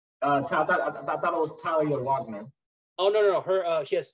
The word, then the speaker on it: Wagner: Or Wagner, because I'm not German. That's how I pronounce it. It's supposed to be Wagner because the V is supposed to be like a B.